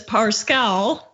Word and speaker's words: Parscale: so the Lincoln project pronounce it as parse cow I thought it was parse scale that's what brett erlich